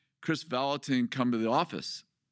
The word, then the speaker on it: Kris Vallotton: all of a sudden over the loudspeaker says, "Chris Valatin, come to the office." You know, my last name pronounced perfectly.